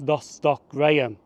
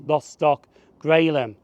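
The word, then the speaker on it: Lostock Gralam: did say that this station was lost stock Graham that's actually wrong because he actually pronounced lost stock grum but to be honest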